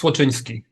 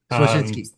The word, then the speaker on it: Słocyński: And last name is super close. It's Słocyński. Słocyński.